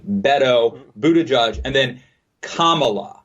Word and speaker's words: Beto: It's Beto. Yeah. Beto. More like a D than a T. Beto, Buddha Judge, and then Kamala.